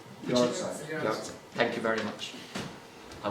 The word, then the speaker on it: Yahrzeit: Just to finish up, I will quote his eulogy on the first Yarzit anniversary. I do know it means anniversary. I'm not, again, pronouncing it correctly. Who? Yahrzeit.